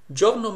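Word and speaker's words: giorno: I in English but e in Italian is silent it just tells you the pronunciation of the G is Joe and not go it's not g no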